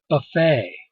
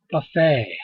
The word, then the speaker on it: buffet: would know this word buffet it's a french it comes from french okay here this is the t you do not pronounce you do not say the t lay buffet the t